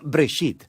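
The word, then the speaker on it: בראשית: se llama génesis génesis viene de una palabra hebrea se pronuncia break sit simplemente significa principio hay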